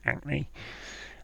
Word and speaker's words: Hackney: Heard in East London, so when you've got East London, you're talking about Cockneys who drop their H's, and in East London there's a place called Hackney, so Hackney becomes acne, and Hackney spelled with